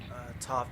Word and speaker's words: Toph: Toph definitely rhymes with tough.